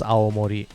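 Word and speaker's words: Aomori: you'll find blank okay enter youres a it's pronounced a Mori please R stoping green ketchup I believe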